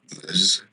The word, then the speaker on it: Meuse: that's your French pronunciation here. Meuse, Argonne.